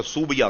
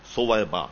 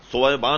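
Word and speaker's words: ثویبہ: کا نام سویبا تھا، جس کا تلفظ لوگوں نے بگاڑ کر سوبیا کر دیا، اصل تلفظ ہے سویبا، یہ سا سے. سویبا نے حضور کو آن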